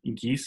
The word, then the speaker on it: Giese: So what do you think about it's Jill Giese is how you say it? Uh-huh. That's right, Giese.